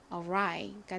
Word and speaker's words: arrive: 그리고 뒤에 I는 I 소리가 나니까 arrive가 되죠. 한국식으로 표기할 땐 lie라고 쓰지만 실제 미국식 발음으로는 rye입니다.